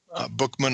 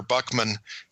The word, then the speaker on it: Buchman: into a cartoon if you go Google um Bookman or Buckman it's pronounced both ways by the way Jean either